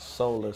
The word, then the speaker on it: Soular: Well, currently, I'm working on a project called Solar System, which is spelled SOULAR system, you know, like the solar system you have, our solar system with the sun and the planets and everything.